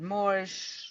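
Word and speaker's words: MOOAR: I can't pronounce it more more more like like I want to know more teach me more um deserve to have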